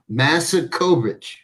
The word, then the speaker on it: Masakovich: as you call me, with all the Tonys around here, the right pronunciation, Chris, is Masakovich. The W is a V.